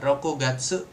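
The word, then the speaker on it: 六月: hari keenam kalau bulan bulan Juni jadinya roku bacanya roku gatsu roku atau untuk tahun rokunen.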